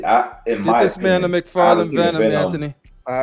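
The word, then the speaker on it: McFarlane: you got to remember it's pronounced McFarland not raita like say it with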